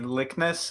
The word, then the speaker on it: Likness: introduce yourself sure um likness is how to pronounce my last name in case anyone's curious it could go either way likeness or likeness so it's the the latter and i'm a program